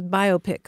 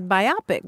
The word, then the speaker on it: biopic: I mean, I have a friend who mispronounces biopic all the time. Oh, she sees biopic it as biopic because it looks like myopic. Or it sounds like biopsy.